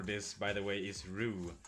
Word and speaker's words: roux: The French culinary term for this, by the way, is roux, spelled R-O-U-X. It should really be pronounced something like roux, but the French are kinda weird.